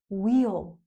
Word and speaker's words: we'll: We'll. Wheel. Wheel.